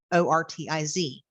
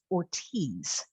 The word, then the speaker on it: Ortiz: here's an example my last name is o-r-t-i-z and a lot of people think that's Ortiz but it's actually Ortiz and it's always yeah no it's just that's how my father-in-law taught me to pronounce it and so he and